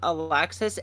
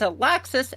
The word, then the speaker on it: Alexis: Lexi is short for Alexis. It depends on where you're at in the region of Earth. Um, if you're in the more Nordic Scandinavians, that's pronounced as like Alexi, and that is a man's name.